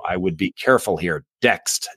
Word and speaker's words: Dext: Dext, D as in Delta. It's spelled like next. Okay. D-E-X-T, T as in tango.